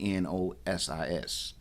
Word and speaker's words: gnosis: The word itself starts with the go I mean G N O S I S from the Greek um word nosis.